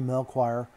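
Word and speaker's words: Melchior: and mentioned a henry mel choir mullenberg i believe i'm pronouncing that right but i'm pronouncing it just like it's spelled uh m-e-l-choir so anyway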